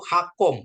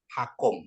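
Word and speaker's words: חכם: ya Hakam ya atau hakom ya Kenapa hak karena ini ini ada di depan itu ee eh silabus tertutup ya silabus tertutup jadi sehingga dia dibaca O ya jadi bacanya hakom Ya hakom itu bijak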